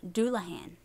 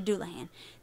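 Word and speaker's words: dullahan: there is the duluan dulahan I'm going to say dulahan the Irish dulahan sometimes spelled duin or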